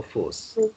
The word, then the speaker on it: fausse: Fausse, parce qu'il y a combien de S là? Combien? Un S ou deux S dans le mot fausse? Yes. Deux S, bravo. Alors tu entends le son fausse. C'est un son S.